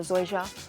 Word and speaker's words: zoysia: to look at is zoysia or zoyja depends who you're speaking to and how they pronounce it but it is fast